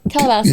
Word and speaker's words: Calabasas: That's what how's it pronounced? So it's Calabasas.